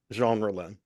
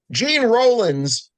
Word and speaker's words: Jean Rollin: Now, tell me again how you pronounce the director's name. Jean Rollin, Wow, I've just been doing it 100% wrong.